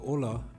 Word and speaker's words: olla: Although it is spelled Olla, it is pronounced Olla.